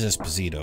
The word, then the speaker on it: Esposito: need to see it sure but you did pronounce his last name right it is esposito i know that okay cast here we